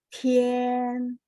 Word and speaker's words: 天: 待下一天， Ya, T bacanya te, ya. Te, ien, tien, 天，田，田，天， tien. Pendek, ringan. Ada 5, 呀 Bu.